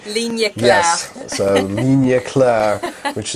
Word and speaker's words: ligne claire: have to ask you for all the French pronunciation. Ligne claire.